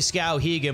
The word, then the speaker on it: Skowhegan: It's actually Skowhegan, but I get it.